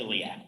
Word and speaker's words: iliac: which is the other one how is that pronounced the one is vitreous and the other is blood uh iliac blood iliac specifically factor certainly ilic okay so